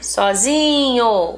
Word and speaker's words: sozinho: Sozinho, o zi.